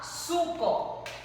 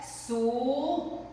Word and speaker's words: suco: A gente fala, a gente pronuncia suco, sapo e sino. Mas só que não é com U. A gente usa o que? A vogal O.